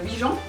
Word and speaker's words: Huygens: En plus, c'est une marque française, donc on devrait dire Huygens.